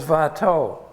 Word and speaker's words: Watteau: The artist most associated with the word Rococo is Watteau. I'm using the Flemish pronunciation because he was actually a Fleming, and he was very much influenced by Rubens.